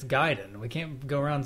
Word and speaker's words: Gaiden: It's pronounced Ninja Gaiden.